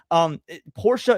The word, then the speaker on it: Porsche: But it's pronounced Porsche. In German, there's an E at the end. It makes the sound, like Danke. Porsche is the proper way to say it, but I get it.